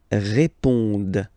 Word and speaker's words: répondent: Ils répondent. So same thing here, classic ending, E-N-T, but then you don't pronounce it.